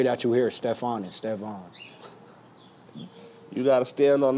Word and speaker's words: Stefan: But if y'all want to try to pronounce it when y'all go home tonight, it's Steon.